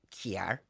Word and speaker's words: car: We, in Derry, Stoke, London, Derry, do you know the way we say kiar? Yes. Car.